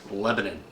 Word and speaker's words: Lebanon: the same name and it's spelled the same as the country Lebanon, but it is pronounced Lebanon.